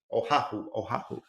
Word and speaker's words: Oahu: So I couldn't imagine a better place to be stuck than maybe Oahu, Oahu.